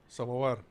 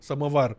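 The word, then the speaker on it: Samovar: Samavar. Yes. How do you say it? Samavar. Samar is a Russian word.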